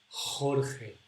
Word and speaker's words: Jorge: The tongue is behind my teeth, and a little bit down here. Jorge, Jorge, ja, je, ji, ho, hu.